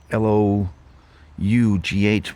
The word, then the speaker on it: Lough: out into the um Lough Foyle Lough, or I think it's Lough Foyle. It's spelt um l o u g h, but it's pronounced Lough, like, you know, a lock on a fence something like that.